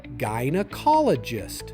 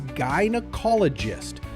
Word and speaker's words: gynecologist: The correct way is gynecologist. Start with guy, then n followed by call. Add a soft uh and finish with gist. together. Gynecologist. Now, let's practice it together three times. Gynecologist.